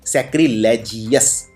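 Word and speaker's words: sacrilegious: लेकिन इसमें जीएस जो है इसमें ओ भी आता है, तो यू भी आता है ओवस, तो इसको जियोवस की तरह प्रोनाउंस कीजिए, सैक्रिलेजियस।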